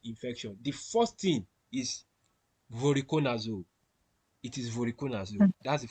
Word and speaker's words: voriconazole: So the treatment for aspergillus infection, the first thing is voriconazole.